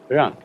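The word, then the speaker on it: 仁: Although when we Romanize this word in English, we spell it J-E-N, it's pronounced Yuan. Sort of like rolling an R, or rather saying R but not rolling it.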